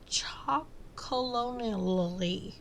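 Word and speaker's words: Chocolonely: n e l y it's like they took chocolate like the first part of chocolate and put colonal Le at the end of it and they put it together I don't know anyways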